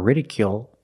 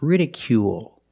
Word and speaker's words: ridicule: this word is ridicule we see the stress on a first syllable and the third syllable so we pronounce it long it's not radical or ridicule it's ridicule make the long u sound plus the dark L at the end of the word ridicule ridicule is a